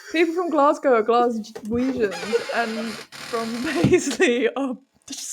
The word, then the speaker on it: Glaswegians: Oh, I've got the British pronunciation. How do I play it? Glaswegians.